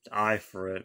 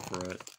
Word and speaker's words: Ifrit: shifa odin ifrit you know melted kid i pronounced it i for it for for a very long time then i kind of realized it'll pronounce it for it leviathan bahamut some people pronounce it uh bahamut